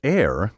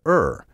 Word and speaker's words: err: for about 200 years the variant air did not appear in a dictionary until the 1960s since then it has become the dominant pronunciation although some commentators argue in favor of air on the grounds that it links the verb phonically with the noun error many cultivated speakers and current authorities still prefer ER and I stand firmly with them now it's up to